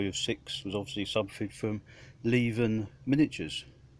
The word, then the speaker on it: Leven: Not a lot of people know that's how you're supposed to pronounce it, because that's where the company is based, in Leven, up there in the north of England somewhere.